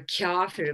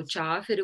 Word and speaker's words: kafir: So that's why they called him the infidel, or kafir, which is the word in Arabic, and also chafir, which is the Bosnian, Serbian, and Croatian kind of pronunciation, which means non-believer.